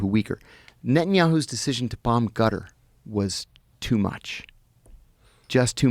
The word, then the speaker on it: Qatar: The correct pronunciation. How do you say it? Gutter. You said gutter. Uhhuh. It's back here. It's called a but So I've heard cutter. It's not cutter.